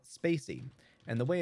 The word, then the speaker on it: spaCy: and models the good news is modules like Spacey and NLT K which stands for natural language